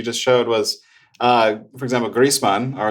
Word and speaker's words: Griezmann: And the thing that you just showed was, for example, Griezmann, or as it's pronounced in German, Griezmann.